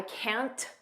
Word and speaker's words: can't: Notice we don't push out that T. I can't. Just don't push it out.